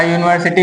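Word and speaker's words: university: जैसे अ यूनिवर्सिटी है इसके प्रोनंसिएशन में यू आता है। यू यानी कि य जो कि एक व्यंजन है।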